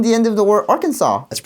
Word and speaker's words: Arkansas: I don't think guys I don't think I should move to Arkansas. You know how to pronounce that word? Arkansas? Nope. Oh. You're going to get arrested. Oh. Arkansas?